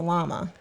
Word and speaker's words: llama: Because it's a double L in Spanish. You pronounce it as Y.